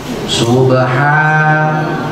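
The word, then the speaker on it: سبحان: lihat awal surat al-isra Subhan bacanya maksud saya di situ ada fathah tegak bacanya ha itu harus panjang fathah tegak Mad batal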